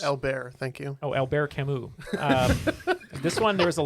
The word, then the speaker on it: Camus: Pronounced Camus. It's Camus. Albert, thank you. Oh, Albert Camus.